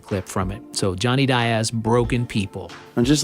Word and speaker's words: Diaz: It's pronounced Diaz. It's not pronounced Diaz.